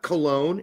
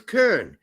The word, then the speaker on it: Köln: It's not Bayern Munich, it's Bayern München. It's not Cologne, it's Köln. I could go down the list forever. Köln just happened to be Brett's favorite one. All right. Köln.